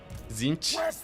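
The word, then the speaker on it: Tzeentch: I also pronounce it with the first T silent. Yeah, Zinch. Oh yeah, so like you have the Z at the end.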